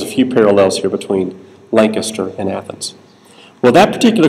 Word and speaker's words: Lancaster: they should I mean everybody in the room would say that's Lancaster of course but no in South Carolina's pronounced Lancaster and if you don't pronounce